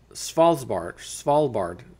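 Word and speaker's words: Svalbard: of the most vital crops from Extinction uh falb spard that's how you pronounce that officially called The spal Bard Global seed Vault it already holds close to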